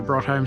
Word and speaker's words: Broadholme: i think and so i always call it brought home still even now even though it's spelt broad home